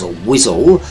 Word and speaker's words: Wiswell: Wiswell, pronounced locally as Wizzel, as in the unsavoury underparts of a warthog, is the sort of